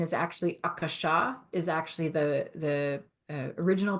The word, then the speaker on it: Akasha: the word aach and by the way the pronunciation is actually Akasha is actually the the original pronunciation but the